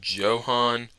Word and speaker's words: Johann: city's pick center fielder johann maisis yes it's pronounced johan not yohan i looked it up